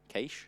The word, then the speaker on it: Cache: Cache? Yeah. It's like I'm saying quiche, right? Yeah. Which is like a food. Yeah. So it's starkly different for me.